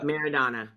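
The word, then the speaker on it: Maradona: walls how how do you say his name merido meridana yeah meridana so there were Flags there were photos yeah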